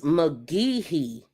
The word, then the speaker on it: McGehee: Their name is Magee. It's spelled MCGEHEE. And it's Magee versus KLLM.